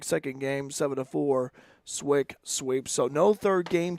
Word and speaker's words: SWIC: seven to four uh we're talking about the pronunciations swick kept saying schwick Yeah Yeah swick it's and I've been uh I've been to